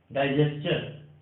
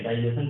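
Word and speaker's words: digestion: Combustion होता है, सजेस्चन, डाइजेस्चन, ठीक है। डाइजेशन कुछ लोग बोलते हैं, सजेशन बोलते हैं, बट ये सजेस्चन होगा, डाइजेस्चन होगा, कंबस्चन, क्वेश्चन, क्लियर है स्टूडेंट।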